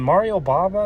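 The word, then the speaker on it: Mario Bava: it was um some Italian hor was in Mario Baba is how you say his name I watched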